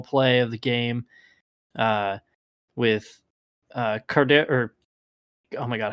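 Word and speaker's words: KhaDarel: of the game with Cardero. Oh my God, how do I pronounce his first name? Hodge. Kadero, I think. Cardero, that's what it is.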